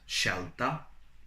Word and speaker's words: scelta: So when you have S followed by C and I, it is pronounced as sh. And also when you have S followed by C and E. So we have scivolare, which means to ski, and scelta, which means a choice.